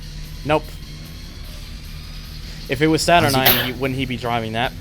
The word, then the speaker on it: Ion: In this game, it's it's spelled ION. Okay. Wasn't there was a rival named Eio. I TXR2 one and two it was EO.